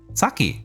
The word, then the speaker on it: Saki: going in my head saki saki is just too saki yeah saki's just two syllables it's not you know that's uh don't don't don't say it like that don't be don't be